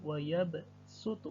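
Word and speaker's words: وَيَبْسُطُ: ketawa ya bersuhu Hai tertulis sold namun cara membacanya dengan Sin Hai menjadi wa yabsutu Hai menjadi wa yabsutu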